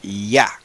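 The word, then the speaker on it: יָהּ: saben y lo dicen que eso se pronuncia Ya ya okay Y en español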